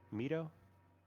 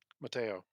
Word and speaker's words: Mateo: So yeah, you get there and how do you say this guy's name? Mito? Meteo? Mateo. Mateo. I am going to I thought there was an A in it.